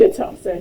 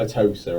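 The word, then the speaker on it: Atossa: not being related with a tosser. Yes. Is that? Are you doing that on purpose? Is that how you pronounce it? That's how you pronounce it. It's not a toaster or something.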